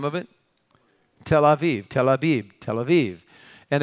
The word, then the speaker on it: Abib: Now say it like a Hebrew, Aviv. The B and the V, depending on a little indicator in the letter, is either a B or a V.